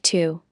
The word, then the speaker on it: tu: Mispronouncing tu as su is a common mistake, so pay close attention to the vowel sound it's like tu.